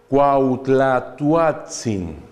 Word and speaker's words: Cuauhtlatoatzin: This is Nahuatl. Cuauhtlatoatzin. Can you repeat, please, after me? Cuauhtlatoatzin. Wonderful! Great! Really! For the Mexican people, it's very difficult to pronounce this.